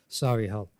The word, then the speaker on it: Solihull: The E is silent on the end of the word there. Solihull.